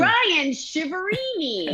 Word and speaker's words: Ryan Chiaverini: Ryan Chiaverini. Oh yeah, it's been butchered. Nobody wants to do that. Yeah, it's been butchered before, that's for sure. But you're saying it perfectly, the American way.